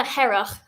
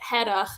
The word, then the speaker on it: Hearach: So you really got to get your throat in there, like really. Like And really actually, any it's, phlegm up. and that's me as a non-Gaelic speaker, but I've even noticed on the island, even within Gaelic speakers, they pronounce it slightly differently. So some would say like Hearach, and some would say more like Hearach.